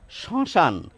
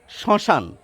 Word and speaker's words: শ্মশান: এখানে একটি চন্দ্রবিন্দু দিয়ে উচ্চারণ করেন শ্মশান, শ্মশান, অর্থাৎ শ্মশান নয়, শ্মশান। একটু নাকি ভাব আসবে এই স-এর ক্ষেত্রে।